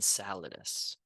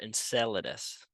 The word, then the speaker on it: Enceladus: surprisingly large plume jetting from Saturn's moon and saladous or Enceladus not too sure how to pronounce it but that's how I'm going to